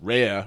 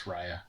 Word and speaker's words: Raya: my mind when uh i'm gonna mispronounce rare or is it ray or raya whatever um the the movie had no music to it yeah it's raya um yeah that was